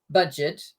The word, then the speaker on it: Budget: the word in English, budget. But in German, it's pronounced the French way. So Jugendherbergen sind budgetfreundliche Unterkünfte. Budget. We've got French in German.